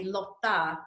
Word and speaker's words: Lotta: name yes or they call me lotta which is the swedish version of that name because i was born and raised in sweden and so the nickname